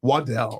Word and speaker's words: Waddell: how do you say your last name waddle Waddell Waddell Waddell thank you for having me